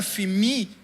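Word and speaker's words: ἀφίημι: original do grego que que se pronuncia FIMI ela tem um significado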